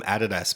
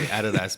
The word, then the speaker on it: Adidas: I wonder if we could combine the idea Like, in Australia, we call them Adidas, by the way. So, I'm going to say Adidas, but first periodic table imprinted on a pair of Adidas sweatpants.